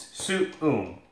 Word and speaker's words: suum: to say that word, they would just be like, some, because it's just a hard U, right? In Latin, these are two distinct syllables. It's suum, right?